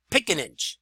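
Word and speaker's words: Picinich: It's Val Pickenage. I believe that's how you pronounce it.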